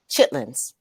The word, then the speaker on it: chitterlings: Chitlins. Now it's spelled like chitterlings, but really when it's pronounced, it's chitlins.